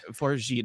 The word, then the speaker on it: Fargeat: Fargeat, is that how you pronounce it?